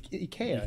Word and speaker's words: IKEA: You know it's pronounced. We talked about this like 3 weeks ago. Ikea. Ikea. It's Ikea.